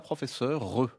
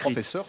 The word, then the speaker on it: professeure: On dit Madame la professeure Mais bien sûr. Alors non, pas re, puisque le E final ne se prononce plus depuis le XVIIe siècle. C'est une marque Madame écrite. la professeure sans E final.